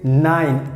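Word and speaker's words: nein: want to say no so you can say 9 and e i n that means no and how you have to pronounce like 9 9 9 so sounds funny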